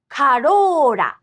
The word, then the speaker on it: Corolla: In fact, this sound written with R is actually somewhere between English L and D. For example, the Toyota Corolla in Japanese actually has this same consonant twice. Corolla, Corolla.